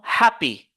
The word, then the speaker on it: happy: deux syllabes nous avons happy happy regardez ici j'ai exagéré donc la première syllabe j'ai écrit ça en des gros caractères ou bien en des lettres majusculle comme Happ happy vous voyez